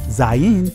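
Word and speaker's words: זין: is called the zayan which is pronounced zain in the israeli language this letter means weapon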